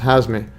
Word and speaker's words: Hazmi: Yes, it's Hazmi. It's not the other one. I got the name wrong right here.